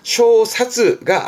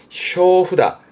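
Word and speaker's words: 正札: 그 정찰인데 발음은 쇼후 정찰이라 쇼사즈가 아닙니다. 쇼후다 쇼후다가 정차를 가격 정차를 말하는 것이고 정차를 제할 때는 뒤에 붙여서 쇼후다츠 쇼후다츠까지 가기도 합니다.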